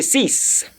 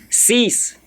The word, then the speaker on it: six: you are pronouncing it the X at the end they will change towards s so C let me say cease cease cease cease that is